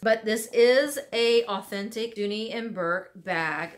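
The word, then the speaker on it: Dooney & Bourke: stories but it is a duty Burke Dooney and Bourke if you want to pronounce it correctly I myself love duty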